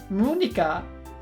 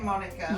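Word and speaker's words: Monika: Munika? Wait, what? Munika, is that how he's pronounced it? Munika? Just say Monica.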